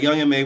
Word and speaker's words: Young M.A: First thing I wanted to get into, guys, is Young Ma. Let me stop. Listen, that's just how I've always pronounced it. A lot of people always used to say Young M.A.